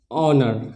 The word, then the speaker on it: honour: O आ रहा है, तो इसमें भी H का उच्चारण नहीं किया जाएगा, इसका प्रोनाउंसिएशन क्या हो जाएगा? ऑनर, है ना, क्या हो जाएगा?